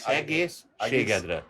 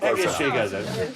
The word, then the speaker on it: egészségedre: In Hungarian, it would be egészségedre. I'll never learn to pronounce that. Just egészségedre. Shigedra. Yeah, egészségedre.